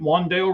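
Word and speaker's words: Wan'Dale: Wandale Robinson.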